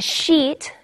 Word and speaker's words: sheet: or sheets of paper really long pronunciation of the double e all right careful with it because it's a bad word if not you say sheet so these are my